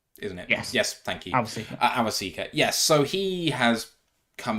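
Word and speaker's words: Awosika: Awasika.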